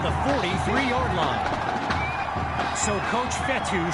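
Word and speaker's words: Fetu: 43-yard line so coach fethu spelled f-e-t-u for the longest time i was pronouncing it coach fedo like feta cheese so let's just say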